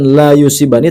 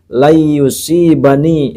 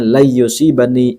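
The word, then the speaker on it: لن يصيبنا: Hatta anahu silakan dibetulkan bukan la yusibani tapi lusibani di situ tulisannya adalah lam dan Nun Lan ya Lan yusibani tapi dibacanya lusibani illa Ma katabtahuli Kemudian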